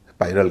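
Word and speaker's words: spiral: अ नहीं हो रहा इसको परल नहीं कह रहे स्पायरल कह रहे हैं इसी तरह पायरेट डायरेक्ट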